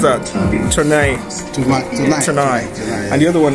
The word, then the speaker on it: Tournai: Yeah, siege of how do you pronounce that? Tournai.